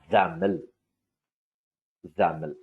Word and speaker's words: XAML: dot x a m l is then you pronounce as xaml xaml z m el this is one new language